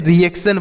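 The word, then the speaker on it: reaction: याद कर सकते हैं तो टी आई ओ ए कहीं पर अगर आपको दिखे तो उसे आपको सन पढ़ना है तो यहां पर भी है तो इसे भी हम सन पढ़ेंगे तो इसे क्या पढ़ेंगे देखिए आ ई ए सी टी आई ओ एन इसे रिएक्शन पढ़ेंगे इसे क्या पढ़ा जाएगा रिएक्शन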